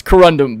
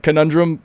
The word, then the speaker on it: corundum: It's corundum but conundrum it's it's forever for me as an inside joke. I'm going to say people are going to say I'm saying it wrong but now you guys will know it's intentional that I'm calling it conundrum.